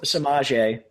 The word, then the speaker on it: Samaje: How do you pronounce the first name? Is it Samaje? Samaje. Samaje. Yeah.